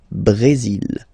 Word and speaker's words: Brésil: Okay, you will pronounce the final L here, and then remember, accent aigu goes like E. Brésil.